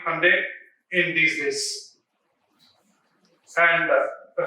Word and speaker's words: Hyundai: as Hyundai Motors, not Hyundai. That is the first learning that we should get it. So we need to understand that it is a Korean word. So like Sunday, so it is Hyundai.